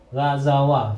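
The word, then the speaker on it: غزوا: Maka apa bacanya? Gazawaw. Ya kan? Nah, ini dibuang ini. Saat dibuang. Karena bersambung dengan waw jamak, maka dibaca dengan gazaw.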